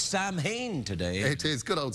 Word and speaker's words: Samhain: darkness oh yes it's Samhain today it is good old Sam Sammy yeah yeah it's pronounced sellin that call the Samhain